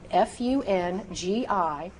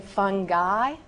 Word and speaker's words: fungi: How should we say F-U-N-G-I based on that rule you just learned? Did you say fungi? A lot of it, so no, it is not fungi. It is correctly fungi.